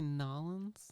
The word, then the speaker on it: New Orleans: and uh Mardi Gras did you just say nolens yeah that's how they say it down there okay you've never